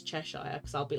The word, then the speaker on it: Cheshire: But I'm like, it's not Cheshire, it's Cheshire. Like an ear on your head.